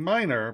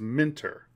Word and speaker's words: Minter: I always pronounce his name wrong. Don't know why. It's not like it's a hard name to pronounce. What was it? Jeff Minter. Minter. Keep saying Minor, but it's Minter.